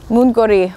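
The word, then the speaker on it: 문고리: Mungori, what is Mungori? Maybe you can tell me. I do know from my personal experience that moon, like moon in the sky, pronounced the same way, means door.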